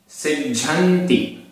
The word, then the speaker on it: सिज्झन्ति: सिज्झन्ति आधा ज झ, इसमें संयुक्त अक्षर बहुत हैं, सिज्झन्ति।